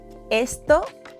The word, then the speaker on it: esto: Esto cuesta un ojo de la cara.